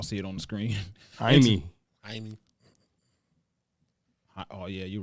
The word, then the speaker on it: Jaime: officers found that 32-year-old Jamie Baldo, that name, y'all see it on the screen. Jaime. Oh yeah, you're right, Jaime. Jamie, I'm so In January. and they don't pronounce the J's.